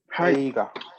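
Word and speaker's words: 映画: Eiga.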